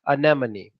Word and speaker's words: anemone: there you go guys that is anemone anemone in me many an enemy an enema knee enema